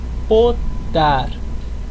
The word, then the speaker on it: potar: última sílaba por exemplo potar potar significa querer a gente não acentua ela porque ela termina em consoante se termina em consoante a gente já sabe que a sílaba mais forte é a última é potar não é